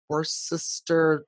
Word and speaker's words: Worcester: town is Worcester, but the sauce is Worcestershire.